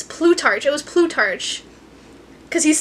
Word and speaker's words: Plutarch: It was Plutarch.